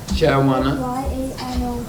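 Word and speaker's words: Chyavana: Chayavana. C-H-Y-A-N-O-V-A-N-A? Okay, just spell it real slow for everyone.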